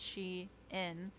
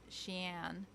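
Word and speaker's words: Shein: It's pronounced she in like she inside and not sheen.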